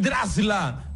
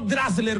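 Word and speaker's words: Draxler: Julian Drasla, no Drasler, como dice usted.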